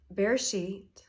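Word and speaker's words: בראשית: Bereshit also is in the Deuteronomy age, also has 3 syllables.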